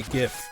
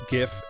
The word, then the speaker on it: GIF: become an accepted usage the reason that I am a proponent of a hard G for GIF is because if you look at all near neighbor words to it now I don't say that somebody gave me a Christmas gift they gave me a